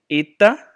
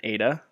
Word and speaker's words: eta: method I'm teaching here it's Zeta and then Etta rather than ADA so ETA Zeta yatta